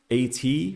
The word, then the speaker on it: AT: And I did ask Approximate Type one time if the AT is pronounced AT reply or at reply. And they specifically told me it is at.